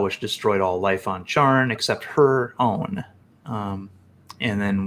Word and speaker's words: Charn: Charn, not Char. And she spoke something called the deplorable word, a powerful spell which destroyed all life on Charn except her own.